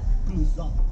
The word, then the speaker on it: Cluzo: ¿Cuál es exactamente la pronunciación from Crusoe? Crusoe. Así que no vayan a decir Crusoe. No empiecen con sus nacadas mieradas. Es Crusoe.